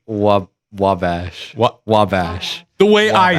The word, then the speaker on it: Wabash: I found the pronunciation, so I'm gonna try to put this into the mic. Wabash.